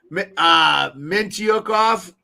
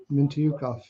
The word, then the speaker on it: Mintyukov: They've been getting a lot of Mintyukov. I don't even know how to say the guy's name. That's right. That's how you say it. What? That's how you say it. Mintyukov. Yeah.